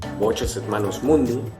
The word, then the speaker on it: Voces et Manus Mundi: Walkers en Manus Mundi latín en su pronunciación clásica, o también Voces et Manus Mundi, latín en su pronunciación eclesiástica.